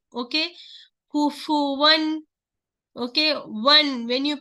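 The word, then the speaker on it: كُفُوًا: In the Suratul Ikhlas, so many people what they do, they read kufwan, they're giving the sakin for the fa. That is wrong. This is kufu. Dhamma is here. So you must say kufu. Okay. Kufuwan.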